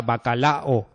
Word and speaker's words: bacalao: hay nadie que diga bacalao, ¿no? Bacalao son tres sílabas, ¿vale?